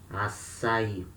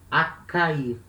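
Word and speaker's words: açaí: in the northern brazil so acai we have letter c with a cedilla below so it it will make the a soft sound assay without the cedilla we would say akai remember let us see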